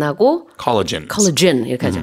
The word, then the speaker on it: collagen: 콜라겐도 마찬가지예요. 그 영어로는 콜라겐 안 하고 collagen. Collagen 이렇게 하죠. 그래서 뒤에 gen 이렇게 발음이 좀 달라진다는 거.